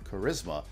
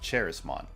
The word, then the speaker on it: Charismon: And fun fact, Charismont comes from the word charisma. So this is our basically real Rizmon and it's pronounced Charisma instead of Cherismon.